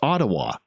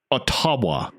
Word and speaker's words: Ottawa: And I said, "It's Ottawa." And the teacher goes, "You're pronouncing it wrong." And she goes, "No, I'm not." And the teacher goes, "It is pronounced Ottawa. Ottawa.